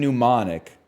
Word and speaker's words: mnemonic: Gnome and mnemonic have the silent letter at the start.